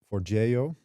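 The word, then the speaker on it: Forgejo: For that I use for Jio. That is apparently the right pronunciation of it.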